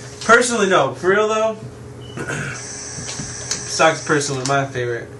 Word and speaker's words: Sokka: People don't even know how to pronounce his name. My bad. Would you like to? His name is Sokka.